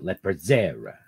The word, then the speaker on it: Lepizzera: You have to say it like that. Lepizzera. Okay. Because they're from Cranston. Right? Is it in the Cranston area? Yeah, it's Cranston. Yeah, that's how everybody talks there.